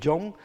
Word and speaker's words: John: en inglés también porque para decir John la H que lleva John no se pronuncia estamos en unas condiciones